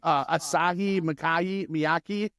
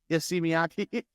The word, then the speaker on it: Issey Miyake: Asahi Miyake. Issey Miyake. That's how you say it.